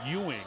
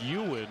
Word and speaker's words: Ewan: Yeah, you want to say Ewing, but it's Ewan, as you pointed out, the 6'11" junior from Lawrenceville, Georgia.